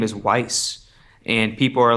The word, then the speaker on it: Weiss: Uh there's a specific character her name is Weiss and people are like well the correct the correct German pronunciation would be like Vice.